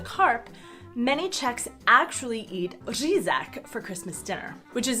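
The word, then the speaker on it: řízek: to buy the carp, many Czechs actually eat reaguje for Christmas dinner, which is essentially schnitzel, but impossible for foreigners to pronounce, which makes it an especially Czech dish. Say it with me. Reaguje.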